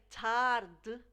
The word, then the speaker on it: tarde: So the E at the end of the word is very subtle in the continental Portuguese, and it's pronounced almost like an exaggeration of that consonant before the vowel.